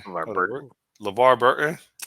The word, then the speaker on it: LeVar Burton: LeVar Burton.